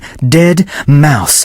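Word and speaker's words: deadmau5: this is dead mouse he wants people to pronounce his name dead mouse how freaking awesome is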